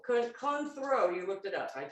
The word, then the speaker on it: Cointreau: And you can use triple sec, but they said that this, and we have debated on how to say this, but it's Cointreau. Cointreau.